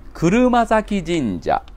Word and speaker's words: 車折神社: ますかそうです車折神社車折神社と言います車が折れると書いてねこれで車折と読むんですよで